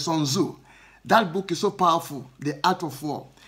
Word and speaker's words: Sun Tzu: I'm not pronouncing the surname well. It's TZU, but it's Sun Tzu.